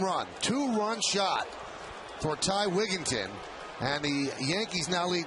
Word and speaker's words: Wigginton: Wigginton, right? Not Wigington. Very highly, widely mispronounced name.